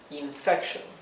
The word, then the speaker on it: infection: la espalda tenemos infection infection sí que es infección fíjense que aquí la i del comienzo tiene su sonido corto I no es a